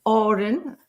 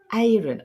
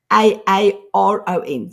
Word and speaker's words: Aaron: I remember I call him Aurin, beautiful Aurin and other people call him Aaron. I cannot actually pronounce the American way for a A R O N.